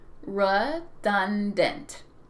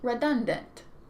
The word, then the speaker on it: redundant: And it is pronounced with 3 syllables, redundant. Repeat, redundant.